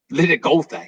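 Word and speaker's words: Leongatha: Lenagotha, yes.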